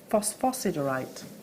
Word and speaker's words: phosphosiderite: say phosphos cerite phosphosiderite so it's a silent S no no you say the S but but the citees